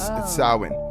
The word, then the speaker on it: Samhain: It actually is spelled like Samhain, but it's Samhain.